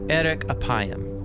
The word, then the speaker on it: 'erek 'appayim: In Hebrew, the phrase slow to anger is pronounced erek apayim, or literally long of nose.